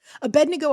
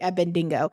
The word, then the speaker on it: Abednego: pronounce uh shadrach meshach abednego always trips me up though and i always want to say ebb and dingo so that's why i